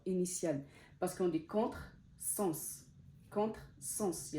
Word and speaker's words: contresens: Si vous voyez dans ce mot-là, quand je l'ai prononcé, le S, il ne s'est pas prononcé Z, il ne s'est pas prononcé le son Z, il s'est prononcé en son S, contresens.